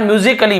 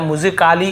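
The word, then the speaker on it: musically: अलग से ए का हो रहा है क्या? म्यूजिकली या म्यूजिकली या म्यूजिक काली ऐसे हो रहा है क्या?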